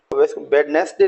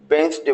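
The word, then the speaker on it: Wednesday: तो आप यहां देखेंगे डी का प्रोनंसिएशन हमको छोड़ देना है बडनेस डे नहीं बोलना इसको बनस डे बोलेंगे ऐसे और भी वर्ड्स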